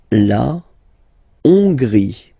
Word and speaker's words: Hongrie: La Hongrie. So remember, H doesn't exist, so you don't pronounce it. So it starts with O-N, on, and then gris, final not pronounced.